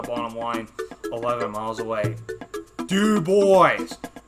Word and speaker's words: DuBois: line 11 miles away do boys do boys do you hear me Panda do boys or actually Xavier 456 pronounce it as DuBois and you know what